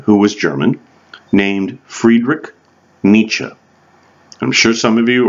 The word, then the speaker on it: Nietzsche: and then it's s z CH e so Nietzsche okay it pronounced differently right and Nietzsche in a book called the birth of tragedy